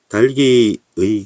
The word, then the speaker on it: 닭이: 뒤에 모음으로 시작하는 조사인 이가 온 경우에 닭 뒤에 이가 오는 경우에 겹받침 중 하나를 연음해야 하므로 달기라고 하는 것이 합리적이다. 이게 2번이죠. 그런데 실제 발음에서는 닭이라고 발음하는 경우 많다. 그러나 닭이라고 발음하는 것은 합리성이 떨어지기 때문에 표준 발음으로 인정하지 않는 것이다. 사문단.